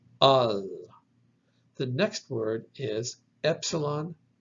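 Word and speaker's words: ἀλλ': So alpha, lambda, lambda, pronounced al.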